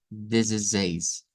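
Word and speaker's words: dezesseis: La primera pronunciación nos dice que debemos decirlo como desde seis, desde seis, con esa Z vibrante acá, desde seis, desde seis, que sonaría muy como el español, pero debemos recordar que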